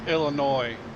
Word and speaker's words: Illinois: and it's it's it's illinois the s is silent todd illinois that's what i